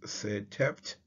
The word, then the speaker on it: Setep: The as symbol is pronounced Setept, so we get Setept